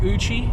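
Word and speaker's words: Eucha: The lake we're going to today is called Lake Uchi. It's spelled E-U-C-H-A.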